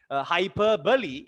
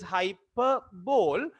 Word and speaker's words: hyperbole: in a like a ball that you bowl hyper bully is the right pronunciation sometimes in your school your teacher might